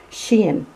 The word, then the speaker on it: Shein: the sheen hey and i learned how to pronounce it she in so anyway these are the the plastic fingernails